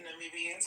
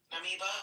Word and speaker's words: Namibia: Namiba, how do you say that? Namibia.